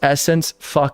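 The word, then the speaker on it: SSENSE: It's pronounced Essence.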